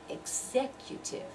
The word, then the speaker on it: executive: the stress so its executive the executive branch of the government executive branch execute if four syllables right executive the second one is the one that receives dress excecutive then we come